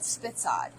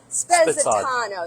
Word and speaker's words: Spezzatino: We call it Spitzad, but the true Italian name is Spezzatino.